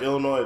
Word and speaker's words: Illinois: like Illinois, the S is silent.